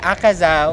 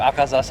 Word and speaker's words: Akaza: Akaza was about to like disappear and then like the image of man behind him.